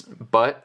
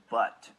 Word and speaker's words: but: BuT. BuT! You hear that? He pronounces the T. T. The plosive at the end.